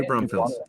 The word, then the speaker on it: New Braunfels: Yeah, that was in New Braunfels, right? Is that how you say it? New Braunfels.